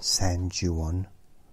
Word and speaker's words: San Juan: Oh my goodness, I pronounced that correctly as well. I'll do it properly now. San Juan.